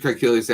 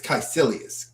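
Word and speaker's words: Kaecilius: Uh, Master Kilius asked if we we can make ourselves big. You know how to pronounce it? It's Chailius. Kaisilious.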